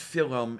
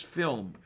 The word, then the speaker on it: film: they called that class it's no that's one syllable it's not film it is film so yeah the uh